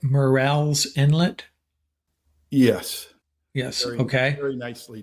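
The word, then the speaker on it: Murrells Inlet: you this time we have David rouard from Merl's Inlet Merl's Inlet South Carolina is that right Dave that's correct I did I pronounce that right morel's Inlet yes yes okay very nicely done yeah and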